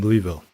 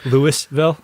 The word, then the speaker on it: Louisville: I have an aunt that lives in Louisville.